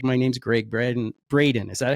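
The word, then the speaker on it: Gregg Braden: He's like, my name's Greg Braden. Is that how you say it? Yeah, Braden.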